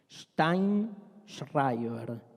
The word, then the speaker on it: Sztajnszrajber: Steinschreiber, decía separando las sílabas y explicando siempre. La J es una I y la SZ se pronuncia sh.